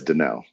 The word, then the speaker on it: Danell: It's spelled Danielle, but it's pronounced Dell.